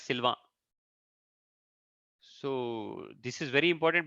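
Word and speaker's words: Sylvain: v a i n in English we pronounce it as Sylvan but in French they pronounce it as Silva so this is very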